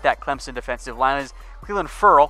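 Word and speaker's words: Clelin Ferrell: Clemson defensive line is wheelin furrow which is actually how he prefers it to be pronounced like a girl come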